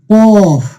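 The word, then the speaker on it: قاف: তো প্রিয় শিক্ষার্থীগণ, কাফ এবং কফের মধ্যে পার্থক্য হচ্ছে কাফের উচ্চারণটা অতটা উঁচু হয় না, অর্থাৎ কফের উচ্চারণটা আপনাকে একটু উঁচু মোটা করে পড়তে হবে।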